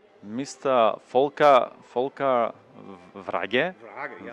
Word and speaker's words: Wrage: Volker Wrage. Wrage, yeah. Wrage, yeah. Wrage, Yeah. So that's the real pronunciation.